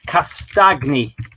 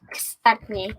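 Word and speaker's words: Castagne: Castagni. It's a bit like lasagna. Castagni.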